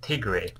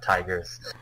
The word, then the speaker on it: Tigre: Actually, I think they're pronounced Tigre. Tigre because Hads. this is French. Yeah, Tigre. I mean, I'll try and remember that. It's very easy to pronounce these as tigers.